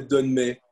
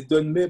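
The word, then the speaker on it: dönme: disait Tony sur les donmés. Moi, je croyais que les donmés, parce que ça se prononce donmé en turc, donmé, comme le donneur, ça veut dire retourner.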